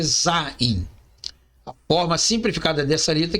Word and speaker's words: Zain: Sétima consoante do hebraico se chama Zain podemos encontrar em outras fontes seu nome como sendo a pronúncia correta é Zaim a forma simplificada dessa